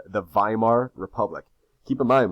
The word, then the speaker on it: Weimar: is something called the weimar republic keep in mind whenever you see a w in german it's pronounced with a v sound weimar here we have the